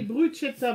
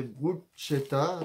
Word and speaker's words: bruschetta: Le soir, c'est bruschetta, donc ça s'écrit B-R-U-C-H-E-2-T-A. C'est marqué bruschetta, mais ça se prononce bruschetta en anglais.